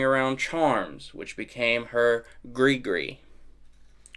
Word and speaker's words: gris-gris: I read it, a gris-gris, it's spelled g r i s g r i s, but pronounced g r e e.